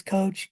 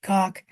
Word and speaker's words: Koch: Robert Koch, and this can be pronounced different ways, Coach Koch. The German pronunciation, I can't pronounce it because it's a sound that's an ex-guttural sound deep in your throat, and I'm not German, so I can't really say it.